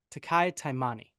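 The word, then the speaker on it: Taki Taimani: Minnesota Vikings get 1.5 against the New York Giants in New Jersey, and it is, Tanner, pronunciation? Takai Taimani, who is the only Utah representation.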